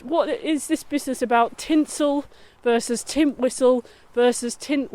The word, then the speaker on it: Tintwistle: is this business about tinsel versus tint whistle versus tint whistle with an H which one is it is it only people who are local can say tinsel tinsel well I guess so